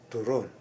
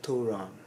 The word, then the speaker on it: turon: Again, second syllable, turon. It's not turon. Okay? Banana cue is banana cue, okay? But turon is turon, second syllable.